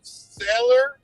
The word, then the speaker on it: Saylor: What did Michael Saylor, is that how you say it?